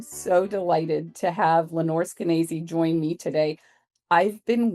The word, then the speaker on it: Skenazy: So me, I'm Lenore Skenazy, rhymes with crazy.